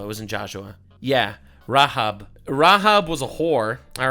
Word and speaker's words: Rahab: It's pronounced Rahab. It's pronounced Rahav in Hebrew.